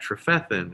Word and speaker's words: Trefethen: glasses before you get that trophethan it starts to flow you know it's accent on the second syllable um but uh you